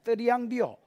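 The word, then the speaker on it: θριαμβεύω: 여러분, 드리앙이 아니고 약간 뜨 발음이 나요. 드리앙비오.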